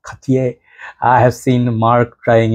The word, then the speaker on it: Cartier: Cartier and Cartier I I can also pronounce it properly like French people do Katie I have seen Mark